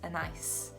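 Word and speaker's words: Anaïs: i can't pronounce properly i would say an a my husband said is pronounced a nice and i really like this name but when he said that it sounds like a nice oh it's a nice day and i couldn't get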